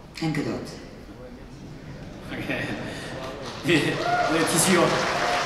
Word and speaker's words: Gadot: And remember, it's pronounced Huawei and Gadot.